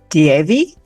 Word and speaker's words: Deavi: Today, we are blessed to have Erika Plepyte, and she has a company called Deavi Marketing.